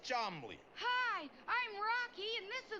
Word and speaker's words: Charmley: and this is my uncle Cham pronounced charmly hi I'm Rocky and